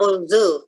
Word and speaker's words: although: Oke, jadi itu bacanya although ya, bukan fuh tetapi gitu ya.